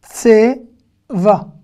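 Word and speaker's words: צבע: Si j'étais dans une synagogue séfarade, j'aurais dit tseva. Mais là, en hébreu moderne, enfin en Israël, on ne le prononce pas. Tseva. On rallonge le A. Vous voyez ce que je veux dire ? Ce A-là, on le rallonge.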